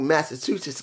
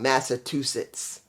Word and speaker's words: Massachusetts: two B well two Massachusetts guy I'm saying it wrong Massachusetts there you go it's good to see